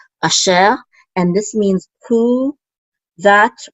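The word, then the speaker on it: אֲשֶׁר: And then we have a shin with a sigol, which is she, and the resh closes the syllable out, so we say sher, asher, and this means who, that, or which.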